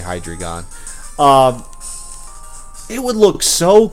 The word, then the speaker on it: Hydreigon: you say his name I can't ever really pronounce it correctly but if hi hydreigon hydreigon yeah I'm gonna say hi dragon um it would look so cool okay here's